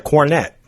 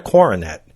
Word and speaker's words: cornet: Or this one, a musical instrument, is a cornet, not a coronet.